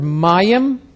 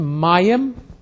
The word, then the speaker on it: mayim: We have the word mayim, accent on the front end, mayim for water, shamayim for heaven or heavens, sky is shamayim.